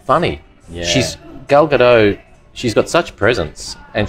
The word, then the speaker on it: Gal Gadot: should just add two that her name is pronounced gal gadot and really it throws apparently it throws me every time because i always want to say gal gadot as well because it sounds way cooler gal